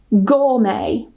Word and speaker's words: gourmet: So if they end with a t, we normally don't pronounce it. For example, ballet, gourmet, buffet or buffet, rapport, ricochet.